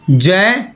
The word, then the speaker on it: ज्ञ: पर इसका सही उच्चारण अगर आप देखें तो जय होता है।